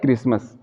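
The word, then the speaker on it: Christmas: सी एच के बाद क्या है, आर आ गया है, इसलिए यहाँ पर हम सी एच का प्रोनाउंसिएशन क के रूप में कर रहे हैं, क्रिसमस।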